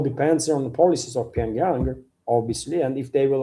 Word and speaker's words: Pyongyang: Depends depends on policies of Pyang or Pyongyang, how you say it in English. Pyongyang in Russian we say Pyang.